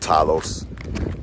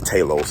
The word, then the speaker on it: Talos: are still riding with tylos and uh Talos I'm sorry um Sam Jackson taught me the proper way to pronounce that Talos uh that Iraq with